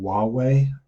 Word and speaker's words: Huawei: two companies apple and Huawei I had to look it up to see how to pronounce it right the H of silent but it's Huawei um so let's just